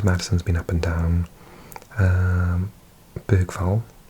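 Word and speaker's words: Bergvall: Bergval, or Bergval, if you say it properly, I think has been sensational.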